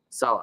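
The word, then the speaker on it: Saleh: like Robert Sal s what is it Sal pronounce it Salah I don't like I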